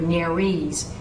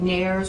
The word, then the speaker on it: nares: So you'll hear nares more than you will hear nares in this region of the country. Syncope, systole, and I'll take nares or nares, either one.